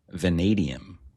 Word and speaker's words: vanadium: Venadium. Venadium. Okay. Long a long E after the E.